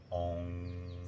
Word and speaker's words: Ong: Then we focus on our sacral and we pronounce the song Ong, O-N-G, Ong, until we reach half breath.